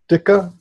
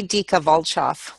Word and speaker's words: Dika Volchoff: series on YouTube and today I'm interviewing Ditka how do you say last your last name it said dica volkov Ditka volkov sounds like a one of